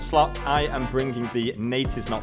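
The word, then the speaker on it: Neitiznot: I am bringing the Nate is not face guard yes that is how you pronounce it if you think that's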